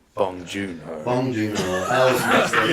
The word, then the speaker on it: Bong Joon-ho: Again, I would want Boon Joon-ho, right? Bong Joon-ho.